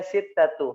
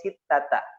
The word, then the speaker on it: sittata: Sittatu, nggak boleh ngucapinnya sittatu, harus sittata.